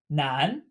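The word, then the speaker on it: 难: Nan, nan, pronounced exactly like man.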